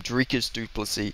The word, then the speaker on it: Dricus Du Plessis: to be Champion now drus sorry I got to I got to get it I got to get pronouncing his name properly I got to start remembering the future Champs Nam drias dupy now don't get me